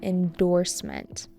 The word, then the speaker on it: endorsement: That's called an endorsement. Endorsement with an emphasis on the second syllable.